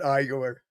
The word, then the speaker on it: Igor: So that's why everybody's saying that Igor. He has Bigfoot on speed dial. It took me a second to get that. I mean, it's pronounced Igor. Sounds like Young Frankenstein.